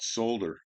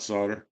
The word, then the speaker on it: solder: He's up in Canada, and he always talks about solder. It's not solder. Or maybe it's solder, solder, or solder, or something. Pronounces the L. Like I guess people in the U.S. are the only ones that don't pronounce the L.